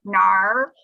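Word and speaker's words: 哪儿: taiwan right because in in taiwan we say nali but in china they say nar right yes because now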